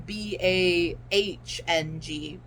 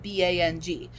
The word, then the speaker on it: Bang: Bong as in Bahng. Well, obviously Bang Chan comes from Bong, but he didn't spell it Bong. Like, he purposely spelled it Bang.